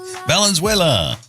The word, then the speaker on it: Valenzuela: Valenzuela.